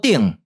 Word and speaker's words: 鼎: 的文字，伫唐韵甲集韵内底有记录，刀、挺、切，读作鼎。